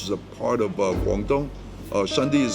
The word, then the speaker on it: Shunde: Shunde is spelled S-H-U-N-D-E.